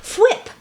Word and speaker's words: Fwip: Fwip.